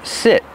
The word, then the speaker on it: sit: So the verb is sit with a short is sound, like this is.